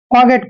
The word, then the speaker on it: forget: फॉरगेट भी पढ़ते हैं, लेकिन आर जो है यहाँ पर एक तरह से साइलेंट होता है, इसलिए हम इसको फॉरगेट पढ़ते हैं और लिखते फॉरगेट हैं।